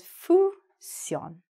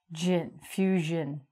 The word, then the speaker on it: fusion: So you look like it says fusion. Oh, I'm going to have some Asian fusion food, but it's actually fusion. So it sounds like fusion.